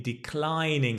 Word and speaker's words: declining: I'm in good health, but I'm in declining health. I'm very sick now. Watch the stress. Declining.